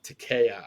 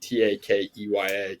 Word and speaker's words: Takeya: But it was great, and they've been a long time sponsored by Takea, I believe is how you pronounce it, Takeya, Takea water bottles.